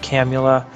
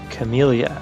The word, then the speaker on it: Camula: to put an end to her madness alright camula i'm kim camellia i'm seeing her name on here is what's making me pronounce it poorly I'm here for my friend